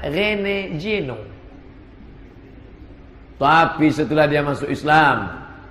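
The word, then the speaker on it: René Guénon: u e n o Rene juenon cara membacanya Rene Jeno tapi setelah dia masuk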